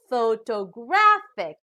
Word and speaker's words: photographic: pronounced as photographer now the third word also has four syllables but this time the stress is on the third syllable so we pronounce this as photographic now we know already what